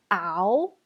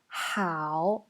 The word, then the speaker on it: 好: Attention, le H, ça se prononce en chinois. Vous ne pouvez pas dire ao. Il faut rajouter le H. Hao, comme en anglais la prononciation.